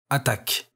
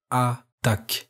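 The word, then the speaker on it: attaque: attack which in french is attack this word pronounced more slowly sounds like a duck again the word is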